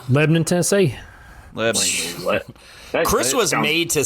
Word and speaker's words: Lebanon: Sure enough, it is pronounced Lebnon. There you go. Lebnon. Lebnon, Tennessee.